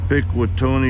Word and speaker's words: Pikwitonei: pick with Tony is spelled Pi K wi t o NE I hermer subdivision of the